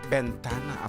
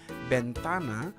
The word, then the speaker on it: bentana: Nulukatam DJ Bentana. Ako talaga mga Ilocano pronounce it. Bentana.